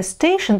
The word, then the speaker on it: station: Удивительно, что английское station пришло в русский язык со своим произношением. Буквы T-I-O-N, T-O-N читаются как звук Ш.